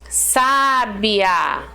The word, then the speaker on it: sábia: parte nenhuma sílaba agora olha essa aqui sábia sabia uma pessoa sabia né sabedoria então era uma pessoa sábia entendeu então você reparou que o acento faz toda diferença né sabia a sábia